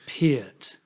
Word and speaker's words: Peart: things that he said he would pronounce it pete right but that's the sort of canadian accent yeah the purpose of